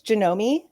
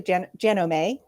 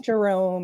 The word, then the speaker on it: Janome: So it's Janomi. Yes. Um it's actually so in Japanese it's actually Janome.